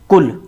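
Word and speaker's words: قل: सकते हैं, कै ले कुल, जिसका अर्थ होता है खाना या खाइए। और दूसरा शब्द है कुल, जिसे हम बड़ा कै कह सकते हैं, कुल, जिसका अर्थ होता है कहिए, यानी आप बोलिए।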